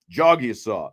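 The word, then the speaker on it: Jagusah: Uh, one, there is no debate because I've got this roster that Notre Dame gave us with a pronunciation guide on there and it says right here, Jogsaw.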